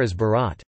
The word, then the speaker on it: as·berat: Compare as Barat, they say, versus ni ipre, they do not say, or do rosk ai,